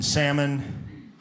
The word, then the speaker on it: salmon: Number one, you go to the restaurant, the waitress pronounces the L in salmon.